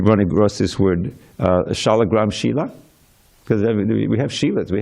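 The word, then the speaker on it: śīla: There's a whole different word, S with a little mark over it, SH, and long I, L, short A, Shila.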